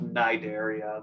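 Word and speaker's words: Cnidaria: uh the the phylum cideria so this is pronounced Nigeria the the sea is silent uh and these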